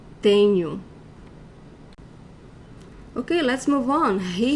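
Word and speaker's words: tenho: see the end new the stronger syllable of this word is the first one tenu when a word ends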